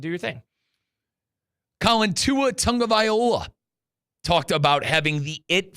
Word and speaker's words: Tagovailoa: it is, we have no idea how to pronounce Tua's last name. Tagovailoa. Say it again, C-Cat. Yeah, Colin got it right. Tagovailoa.